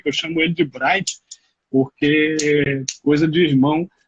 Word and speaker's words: Bryant: eu chamo ele de Bryant, porque coisa de irmão. Se fosse pela pronúncia certa do nome dele, seria Brian.